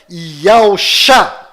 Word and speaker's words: Yahushua: E ficou Yahushua.